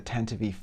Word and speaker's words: Tantive IV: All right, so here we have set 75387 boarding the Tantive IV. For those of you who think that's a weird pronunciation, yes, that is canonically the way that the ship's name is pronounced.